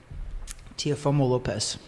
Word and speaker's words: Teofimo Lopez: I'm like, shoot, I butchered that. Well, you say it. Teofimo Lopez.